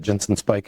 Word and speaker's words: Ginson Speich: I'm at Jensen Spike everywhere.